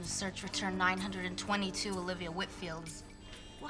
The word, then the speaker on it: Whitfield: I have a meeting with Olivia next week and just wanted to get the pronunciation of her last name correct it's Whitfield Whitfield well that's what I thought and how